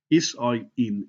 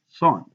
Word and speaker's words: sine: a word called s s i n e sign on the calculator we get lazy and abbreviated to s i n it's not pronounced sin it's pronounced sign now the O represents